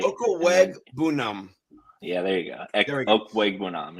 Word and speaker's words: Okwuegbunam: Okwuegbunam.